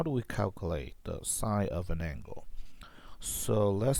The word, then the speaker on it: sin: So the sine, we say sine, we pronounce sine, but it's spelled like sins, because